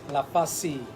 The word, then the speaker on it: LaForce: I said could be French like LaForce, yes. But I wasn't sure. But the correct pronunciation? Yes, LaForce. LaForce.